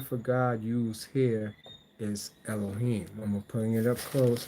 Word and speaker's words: Elohim: Okay, so now you see that the word Elohim, pronounced Elohim, which is plural in a form, it, it emphasizes monotheism rather than suggesting polytheism.